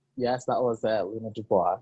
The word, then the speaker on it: Luna Dubois: Did I pronounce it right? Yes, that was Luna Dubois.